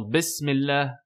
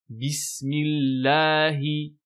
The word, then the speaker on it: bismillahi: Donc les erreurs classiques, encore une fois, du fait de certains dialectes, on entend bismillah, non, bismillahi. Donc bien prononcer à chaque fois la kasra.